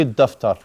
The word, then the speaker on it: الدفتر: You don't pronounce the lam. في الدفتر.